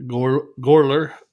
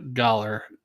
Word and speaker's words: Göller: And this gets a 88 on beer advocate by galler brewery or beri gorer not galler I'm going to try to pronounce it correct gouller galler and it comes out wrong on the text.